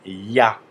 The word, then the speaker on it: Я: dernière lettre de l'alphabet cyrilque il s'agit du ya c'est un ya en russe et voilà on